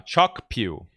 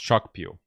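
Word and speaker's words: Kyaukphyu: port located at uh Chuck Pew. I think it's pronounced Chuck Pew.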